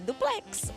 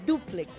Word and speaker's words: duplex: Não é duplex, é duplex. O forte é o du e triplex também.